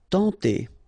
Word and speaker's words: tenter: Tenter. Okay, remember when you get this E-N together, you get the nasal sound en, tenter.